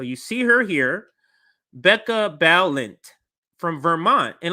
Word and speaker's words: Balint: part I want to talk about let me pronounce her name right so you see her here Becca balint from Vermont and like I said of some